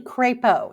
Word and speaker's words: Crapo: and then Senator Crapo from, how do you pronounce that, from Idaho? It's actually Crapo is how Crapo.